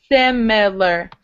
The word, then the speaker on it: similar: And then it's the same sound in similar, similar. Similar, similar. Similar, not similar. Similar. Like this. Similar, similar. Sim, seem, sim, seem. Sim, similar, similar.